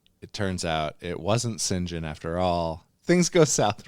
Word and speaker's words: St John: and I'm I'm sorry I'm going to call him St John you could but you'd be wrong his name is Gary St John nope it's singen last name unknown F